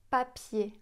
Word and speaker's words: papier: Si vous voulez vous entraîner un petit peu, vous pouvez par exemple dire le mot papier, papier en français. Si on met la main devant la bouche, papier, on sent pas d'air.